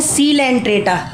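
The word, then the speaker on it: Coelenterata: इसे बोलते हैं सीलेंट्रेटा। इसका जो ओ है वो साइलेंट में रहता है।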